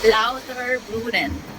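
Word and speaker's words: Lauterbrunnen: touring and we are in louder Bren tama louter Bren ganon daw yung pronunciation Oh my go Thank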